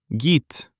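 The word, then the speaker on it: гид: The voiced d Turns into t, and the first g before e becomes soft, gi. Connecting them, we write guide, but we say git.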